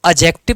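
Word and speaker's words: adjective: पढ़ना है इसको, क्योंकि इसमें जो डी है ये पार्शियली साइलेंट है, यानी कि हाफ साइलेंट है, आधा साइलेंट है। ना इसको जीरो करके लिखना है, आप इसको एडजेक्टिव मत पढ़ लेना।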